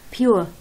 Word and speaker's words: pure: كيف بترفضوا هاي الكلمة اللي معناها نقي؟ pure كنا نفضها إيش؟ بور بور، لا عفوا مش بور، يعني البعض بفضها بور والبعض بفضها بيور. شو طلعت هي بالآخر؟ pure يعني حتى مش بيور، لا طالعة شوي.